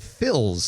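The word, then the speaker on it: Phyl's: But a new deli called Phil's Deli, and it's spelled P-H-Y-L, Phil's Deli, is going into the former Ahmad's Persian cuisine space, which is next to Mr.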